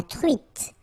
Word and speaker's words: truite: nasal, on, espadon, la truite, same thing here, final E not pronounced, t, la truite, le